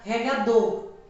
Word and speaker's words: regador: tenho aqui a palavra regador observe que ao pronunciar eu falo com mais intensidade a sílaba dor regado existe uma técnica